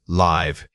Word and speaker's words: live: First, live. Compare it with leave. The long e sound is the difference.